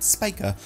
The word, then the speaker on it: Spica: pronounce Angie's last name I'm gonna go with spica Apparently that is how the star is pronounced and let's say that's